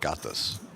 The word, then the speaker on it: Gatsis: Yeah, like it's it sounds like there'd be extra syllables in there, but it's just Gatsis.